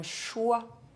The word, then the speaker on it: choix: These consonants as the final letter of a word are silent in French. D, G, P, S, T, X, and Z.